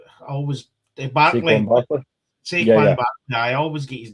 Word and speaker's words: Saquon: I mean, you could say obviously Sakim, always Barkley. Saquon Barkley. I always get his name wrong.